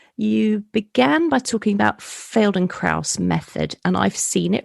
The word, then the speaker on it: Feldenkrais: It's Feldenkrais. I'll spell it for everybody because it's a bit of a nightmare to Google.